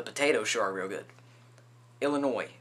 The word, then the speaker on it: Illinois: Illinois, please don't pronounce the S.